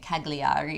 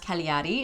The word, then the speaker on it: Cagliari: entire trip, calling it Cagliari for so long. So, we apologize if you've been watching our first YouTube and now we know that it's pronounced Cagliari. It's a silent G, but we loved this town.